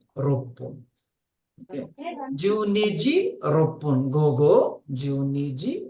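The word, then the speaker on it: roppun: Rupun, You can't say Rokufun. It is Rokun. Okay. Rokufun is, you don't say it Rokufun, you say Ropun.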